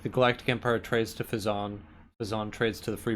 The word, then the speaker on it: Phezzan: 2 billion in Fazan, Right. or Fazane, as the narrator sometimes says. It's spelled Phezzan. I don't know how he gets Fazane.